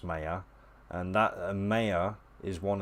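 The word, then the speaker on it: Maya: paid for programs like mayor I think it's pronounced mayor and that mayor is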